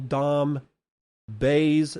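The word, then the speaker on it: Dom Bei: you are now saying Dom Bay's name but you are mispronouncing it it is pronounced just like the bay I.E Sitting on the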